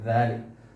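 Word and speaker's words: دال: ദാൽ നമ്മുടെ 4 തുമ്പ് ഈ പല്ലിൽ വെക്കുകയാണ് വേണ്ടത്. ദാൽ.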